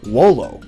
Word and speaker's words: volo: In classical Latin, V's are pronounced like English W's. So this Latin word, volo, is more accurately pronounced wolo.